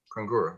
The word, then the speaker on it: Kangura: Kangura, I'm sorry if I pronounced your name incorrectly. No, you're pronouncing it correctly.